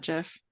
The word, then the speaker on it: GIF: GIF is actually the quote unquote correct way to say it.